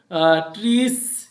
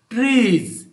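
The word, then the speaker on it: trees: এখানে লেটার যেটাই হোক, এস থাকাতে এখানে কিন্তু ট্রিস এরকম উচ্চারণ হচ্ছে না, ট্রিজ ট্রিজ জ জ ট্রিজ। আবার এখানে ড্যাফোডিলস নয়, এখানে আবার ড্যাফোডিলস, এখানে আবার স, কিন্তু এখানে এই এস এর সাউন্ড হচ্ছে জ, ট্রিজ, আর এটা হলো ব্রিজ।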